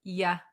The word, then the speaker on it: you: of effort to say you. So when we talk really fast, we get very lazy. So instead of saying you, we're going to pronounce it as ya.